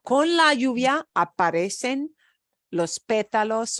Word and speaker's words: pétalos: Los pétalos. Oh, that's right. The accent on the A, Los right.